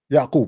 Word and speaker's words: Yaqub: Yaqub. That's how you say it in English? Yeah. It's Yaqub in Arabic.